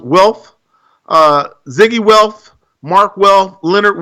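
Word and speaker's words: Wilf: I believe their name is pronounced Welf.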